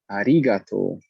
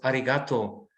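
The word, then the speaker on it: ありがとう: question yes please about arigato rigato i sometimes hear people say arin with the nasal n before the g yes what's that's what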